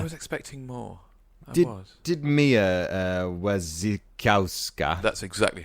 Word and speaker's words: Wasikowska: Did Mia Wasikowska? That's exactly how you pronounce it.